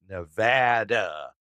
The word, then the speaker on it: Nevada: here will get on your ass if you mispronounce the state name yes people from Nevada call it Nevada losers and it's funny because